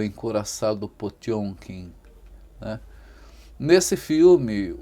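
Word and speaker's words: Potemkin: A gente escreve Potenquin, mas a pronúncia correta é o encuraçado Pjonkin, né?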